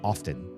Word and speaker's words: often: collegiate and intelligent say often. And so I'm not the only one. But that T is not pronounced or should not be.